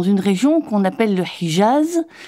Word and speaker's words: Hijaz: région qu'on appelle le Hijaz, un toponyme qu'on prononce plutôt Hejaz en français.